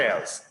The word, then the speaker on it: else: it remember that observation don't say else else what else what else do we have because remember that the final e in english is mute and it is not pronounced okay anyway uh i